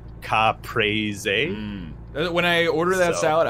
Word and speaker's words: caprese: a caprese caprese eat I've heard people call it caprese it's not that's not how it's pronounced in like Italian I think in Italian the cadence is like cop praise a when I order that